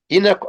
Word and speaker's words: Enoch: I would ask you once again, in the peculiar and sometimes strange English pronunciation of the proper names. Yeah. That's Enoch or Enoch?